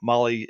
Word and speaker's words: Mahle: And you guys know Molly is spelled Mahle.